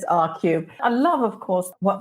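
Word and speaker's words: ARCUBE: And this is a company, I hope I'm pronouncing it correctly, R-Cube. They have announced a funding round of $1.5 million. And R-Cube, so that's spelled A-R-C-U-B-E, declare themselves as a company focused on post-flight loyalty for airlines.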